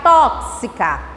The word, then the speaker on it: tóxica: CS ou a gente fala KS, vai ficar tóxica. E aí? Bom, a pronúncia certa é a pronúncia de CS ou KS.